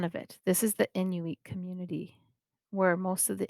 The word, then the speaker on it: Inuit: So sometimes you'll hear people say Inuit. But I like to say Inuit because I actually asked one of my Indigenous friends how to say it properly, and it is Inuit.